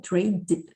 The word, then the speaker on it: trade: Mas você pronunciou trade, você não pronunciou o E no final, né? Trade. Trade tables. Não, fala só o trade. Trade. Mas então é com um Dzinho mudo. Yeah, trade. Yeah, yeah. Like made.